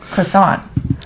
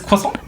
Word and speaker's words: croissant: what did you say I said croissant but it's croissant yeah but I was